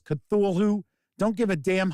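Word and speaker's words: Cthulhu: sum it up is I will pronounce cthulu the same way Neil Gaiman Peter strob and RAM Campbell all pronounce cthulu so St what is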